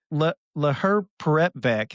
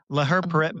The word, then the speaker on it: laherparepvec: Laherparepvec is how they said it on there. Laherparepvec.